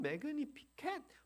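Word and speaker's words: Magnificat: 이 라틴어로 사용된 것이 영어, 독일어 이런 것들을 거쳐서 한국에 들어오면서 마니피카트이라고 하는 그런 말이 됐는데 또는 매그니피켓 여러 가지 이제 발음이 나올 수 있습니다.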